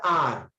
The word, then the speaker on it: hour: Because I mean per hour. H is silent. That's why we are using an hour.